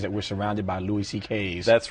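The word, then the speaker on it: Székely: My Hungarian grandfather's name was C.K., but it's spelled, it looks like, it's a mess. It's S-Z-E-K-E-L-Y, and it sounds like C.K., though.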